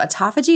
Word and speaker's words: autophagy: And if you constantly have stuff coming in, which comes to the stuff around, is it called autophagy? Is that how you say it? Autophagy. You did it. You nailed it.